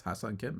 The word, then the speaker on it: Ha-Seong Kim: And I remember my cousin asking me, like, oh, how do you pronounce this guy's name? And I was like, hey, it's Ha-Seong Kim, man.